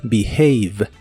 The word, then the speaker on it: behave: comportarse en inglés es behave parece el verbo be y el verbo have juntos pero la segunda parte no se pronuncia have sino have behave behave el verbo discutir